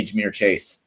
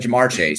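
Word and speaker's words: Ja'Marr Chase: I did not say Jameer Chase, by the way. Like, that's just not true. I did not say Jameer Chase. I said Jamar Chase.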